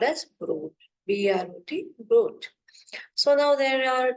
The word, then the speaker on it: Brot: So bread is called as Brot, B-R-O-T, Brot.